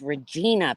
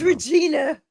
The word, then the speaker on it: Regina: name because in England they call it Regina is that what yall call it in Canada what we call Regina sukatan yeah y absolutely that's wrong it's Regina people it's Regina oh no it's Regina